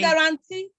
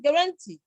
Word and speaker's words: guarantee: You say guarantee, instead of saying guarantee. Guarantee. You know, you say guarantee. You can guarantee it. But you say it can be guaranteed.